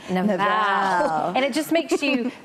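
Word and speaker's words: Nabal: Abigail's husband and I love the Hebrew pronunciation of his name it's nval so just say it with me Nal and it just makes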